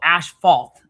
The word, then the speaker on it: asphalt: We go ash falt. Okay. It's between us and um the Australians. It's just to say it's it's just how uh you know, we pronounce it. Um Okay. You know, and it's weird because I when I look at it, I see how it's spelled, but it's not how we say it here, right?